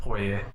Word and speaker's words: Poirier: Is it Poirier or Poirier? It's Poirier. Poirier. Yeah. I think it's French pronunciation.